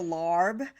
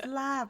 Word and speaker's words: Laab: You love, you love the larb, but it is Laab, my dear.